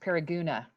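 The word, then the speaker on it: Paragonah: move to approve and that's pronounced para guna so yeah just so you know and sounds like a local mr.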